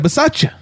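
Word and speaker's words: Bisaccia: have it in term coach right we have versace the interim head coach that's how you pronounce his name so so here's my question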